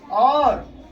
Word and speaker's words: of: और प्रीपोजिशन, कौन सा? Preposition. Preposition in, ऑन, ऑफ। अच्छा, एक और बात, इसको ऑफ नहीं बोलते हैं, वो आप डिक्शनरी में देखिएगा प्रोनाउंसिएशन इसका औ बोलते हैं।